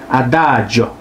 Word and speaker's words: adagio: 자, 아다지오 느리게. 아다죠. 아다죠. 죠. 아, 돈 지오반니 할 때 돈 조반니 돈 조반니. 바로. 돈 조반니 할 때 그 조반니. 그 발음입니다.